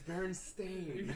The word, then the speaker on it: Berenstain: Excuse me, it's Berenstain.